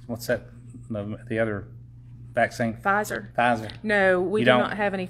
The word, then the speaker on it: Pfizer: be only that drug that how do you pronounce it pfizer pfizer okay so it would be just pfizer and